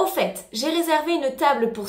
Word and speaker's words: au fait: au quotidien en français attention à la différence de prononciation au fait le à l udd leçon aux et en en fait on prononce bien le thé dans les deux cas au fait au fait en l'utilisant